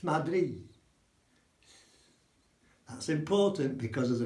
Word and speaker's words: Madrid: So Madrid isn't Madrid in Spanish, it's Madrid. It's Madrid. That's important because of the pronunciation.